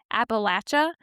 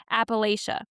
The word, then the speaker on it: Appalachia: lifelong residents use the traditional Appalachia, while others, particularly in academic or national circles, prefer Appalachia. I personally will typically use the latter unless I catch myself and then I'll use the traditional local pronunciation.